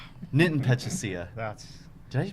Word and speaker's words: Pachisia: Nitin Pechasia. Did I pronounce it right?